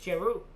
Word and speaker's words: Giroux: It is a French name, okay. So it's Giroux. I've been saying it wrong.